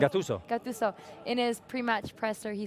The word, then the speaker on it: Gattuso: The coach of Napoli, how do you pronounce it? Gattuso.